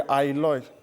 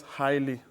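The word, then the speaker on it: aioli: Lemon, Sorry, ailoy. lemon ailo. Ailoy, as in A-I-O-L-I. Some people pronounce it highly, Okay. like highly deep, highly sauce. It Okay. depends on how you want to pronounce it.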